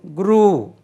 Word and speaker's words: grew: Then valar, grow, grow, grow, grew. It is not grew, grew. It rhymes with blue.